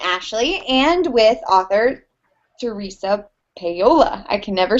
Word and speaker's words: Paolo: my awesome assistant ashley and with author theresa payola i can never say your name right i